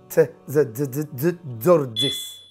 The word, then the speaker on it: Tzortzis: Well, if you bring the T and the Z together, T and the Z together, yeah, very fast. So it's Tzortzis.